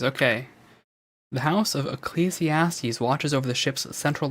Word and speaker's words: Ecclesiastes: Pronunciation. Ecclesiastes, okay. The House of Ecclesiastes watches over the ship's central life support.